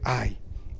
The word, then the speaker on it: Hai: sobre y sube ay la h no está en el original por eso se pronuncia ay mira yo he entregado